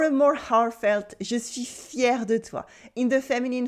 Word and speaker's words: fier: Or a more heartfelt, je suis fier de toi.